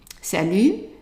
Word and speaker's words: salut: Salut instead of salaud, because this is actually an insult.